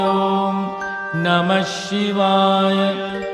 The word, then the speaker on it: Om Namah Shivaya: The syllables are Na, Ma, Shi, Va, Ya. Always starting with Om. Om Namah Shivaya.